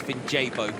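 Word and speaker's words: Vinjebo: I will always take a pronunciation correction, and it's Vinjabo.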